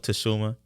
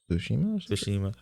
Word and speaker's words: Tsushima: To go from Ghost of Tsushima, Tsushima. or is I it- forgot how you pronounce Tsushima.